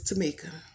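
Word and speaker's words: Tomeka: me tomato but anyway it is Tamika it is spelled t-o-m-e-k-a but it's still Tamika okay but it's all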